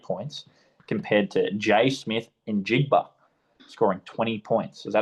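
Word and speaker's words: Njigba: Chargers scoring eight points compared to Jay Smith in Jigba scoring 20 points.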